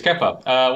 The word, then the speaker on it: Kepa: It's half a point if you can't pronounce it right. Shut up, Kepa. It is Kepa.